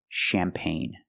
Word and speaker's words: champagne: And we see this word, champagne. You have an e at the end, but the e is silent. And the g is silent, too. Pronunciation champagne.